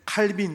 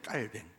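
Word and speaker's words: Calvin: 여러분들이 영어식으로 너무 익숙했는데 칼빈 칼빈 들어놓은 보셨어요 칼빈 총 말고요 칼뱅 근데 불어 발음으로 깔뱅이에요 깔뱅 짠 깔뱅 칼빈이 영국이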